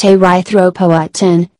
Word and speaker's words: erythropoietin: Healthy kidneys produce a hormone called erythropoietin, pronounced erythropoietin, which tells the body to produce red blood cells carrying oxygen.